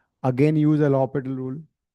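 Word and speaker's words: L'Hôpital: हाँ बट वी, I mean pronunciation L'Hopital है, बट हम इसको एल हॉस्पिटल देसी भाषा में बोल सकते हैं.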